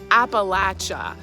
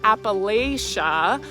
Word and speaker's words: Appalachia: It's Appalachia, like throw an apple at you or the Appalachin pronunciation appalachin at throw an apple at your chin.